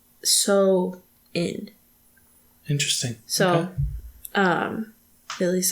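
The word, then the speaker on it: Samhain: a m h a i n but it's pronounced so in interesting so um at least that's what I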